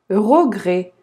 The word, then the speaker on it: regret: Sans espoir et sans regret. Regret. Ты не читаем. Regret.